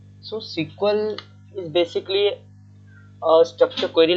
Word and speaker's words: SQL: college and SQL or sometimes we pronounce as a sequel okay depending upon the pronunciation so SQL is basically a structure